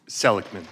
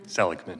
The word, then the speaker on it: Seligman: How is it properly pronounced? Seligman. Thank you very much. Seligman? Seligman.